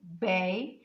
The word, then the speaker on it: baby: pronounce in this example the word baby the emphasized word or distressed a word is bae because you pronounce it strongly Bae and the weak sound